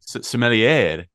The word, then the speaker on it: sommelier: Sommelier. Yeah, but you'll say the ER. It's like sommelier.